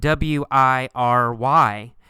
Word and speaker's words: wiry: see the word wiry it's spelled w-i-r-y but in fact we say it with three syllables why ER re wiry wiry wiry means